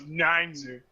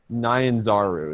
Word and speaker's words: Nyanzaru: I thought it was Ninezu. But you know what? Nyanzaru is how it's pronounced.